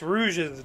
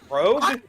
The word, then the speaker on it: Rouge: How did you think it was pronounced? Rogue? Yeah. It's a color, Rouge. I didn't know it was a color either. Granted, I already know Rouge through the bullshit of the internet.